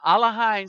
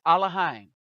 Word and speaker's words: Elohim: Now, Exodus 20:1, and Elohim spoke these words saying, and it's Elohim, not Elohim. All right, it's Elohim. That's how it was originally written and pronounced.